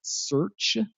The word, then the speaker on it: crt.sh: Then there's crt.sh. That's pronounced search.